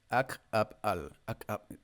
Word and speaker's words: Ak'ab'al: So the next sign, let's begin with the pronunciation, the glottal accents. Ak'ab'al. You just like cut with your throat to make a space.